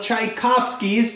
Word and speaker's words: Tchaikovsky: wave the charging tsunami washed away all of tchaikovsky's tchotchkes oh my goodness Tchaikovsky over here he's